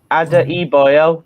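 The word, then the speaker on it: Adarabioyo: Ada Iboyo, that's how you pronounce Ada it.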